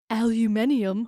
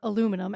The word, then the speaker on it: aluminium: a roll of aluminium or aluminum as Americans say.